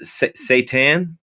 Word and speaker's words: seitan: at your plant protein guide and is it pronounced seitan yeah yeah yeah i i there's a there's